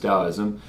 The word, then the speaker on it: Taoism: textbook definition of taoism spelled taoism or taoism but definitely pronounced taoism a Chinese philosophy based